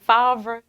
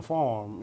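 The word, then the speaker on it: Favre: with brick frog brick always confused about how to pronounce his last name because it's f-a-v-r-e farver i used to call him farm m-f-a-r-m very fun all right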